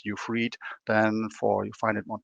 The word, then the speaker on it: Ufried: The IE in German is usually pronounced as you would write it in English with a double E, something like that. So that's Ufried.